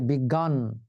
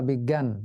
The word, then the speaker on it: বিজ্ঞান: বর্গীয় জ ইয় আকার আর ন এখন জ এবং ইয় কে যদি আমরা উচ্চারণ করি তাহলে উচ্চারণটা কেমন হয়ে যাবে? সেজন্য এখানে কিন্তু জ ই উচ্চারণ হবে না। এখানে গ বা জ্ঞ উচ্চারিত হয়। এজন্য উচ্চারিত হয় বিজ্ঞান অথবা বিজ্ঞান দুটো উচ্চারণই শুদ্ধ।